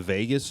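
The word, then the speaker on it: vagus: There's um on your neck is the ve the the Vegas nerve. What's that? Not it's not spelled like Vegas, but it's like it's pronounced like Vegas or something.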